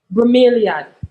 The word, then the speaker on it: Bromeliad: How you pronounce this? Bromeliad.